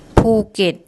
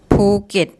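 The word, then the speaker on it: ภูเก็ต: ภ ู เ ก ็ ต ภ ู เ ก ็ ต ภ ู เ ก ็ ต And third one.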